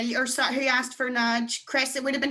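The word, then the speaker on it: náid: Nudge. N-A-F-A-D-A-I-D. Nudge. That's zero. N-A-I-D. Nudge. And if you're counting, it's a nudge.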